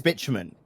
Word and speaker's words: bitumen: saying we are saying i believe it's pronounced bitumen nick has convinced me it's pronounced bitumen he's been it is bitumen yeah yeah okay yeah yeah yeah yeah from from what i remember from chemistry uh is is indeed bitumen and that's my chemistry